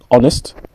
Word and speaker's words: honest: Quand il y a un mot qui commence avec H, il faut toujours lire le H à part honest et hour comme l'heure.